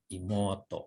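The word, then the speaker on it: いもうと: Adik perempuan, apa dibacanya ini? Imoto, gitu ya.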